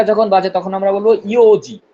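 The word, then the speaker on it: 四時: 4টা যখন বাজে তখন আমরা বলবো ইওজি। কি বলবো? ইওন না, ইওজি, শুধু ইয়োজি। ইওজি।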